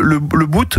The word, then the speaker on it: Le Bout: On dit quoi ? On dit le le le bout. Le bout le bout. D'accord. On prononce pas le thé.